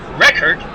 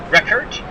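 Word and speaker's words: Richert: They've gone to Pete Reichert, I believe, is the way you pronounce his last name, I think. R-I-C-H-E-R-T, Reichert.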